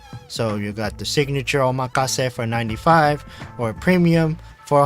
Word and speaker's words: omakase: So, omakase? No. Oh my case.